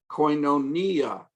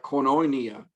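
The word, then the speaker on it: κοινωνία: they are alpha pure the accent comes at the end so if you want to pronounce them correctly and impress people with how much greek you know make sure that you say koinonia and not something like cornonia then you can impress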